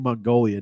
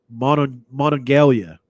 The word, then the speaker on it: Monongalia: So it says he was arrested in was it Monongalia, or how is it pronounced? I keep saying Mongolia, don't I?